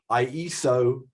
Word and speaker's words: Ieso: on twitter tells me it's called ieso rhymes with miso where was this like